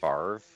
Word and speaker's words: Favre: guys want to do it's pronounced farv why does he spell it fabre then he should spell it that way karen come on i